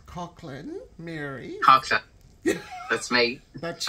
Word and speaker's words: Coughlan: you would say that so it's Cochran that's yeah absolutely so that's interesting because it's that sounds like a k to me but it's a you know you you see yeah so yeah Cochran Mary yeah that's me